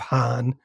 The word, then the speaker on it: Hahn: eventually coined the term wrath of Hahn that rhymes with Kahn.